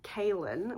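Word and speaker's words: Kahlan: this far in and Richard and kaln which is apparently how her name is pronounced but I don't know everyone in my family calls her Kanan so I'm going to call her colan Richard and colan are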